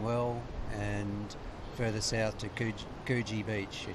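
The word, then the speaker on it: Coogee: and further south to kuji beach it's spelled Koji but they say it yeah I had a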